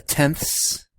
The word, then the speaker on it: tenths: this side you have the tenths i'm not trying to be funny when i'd say with a lisp but really that's how you say it hundredth thousandths all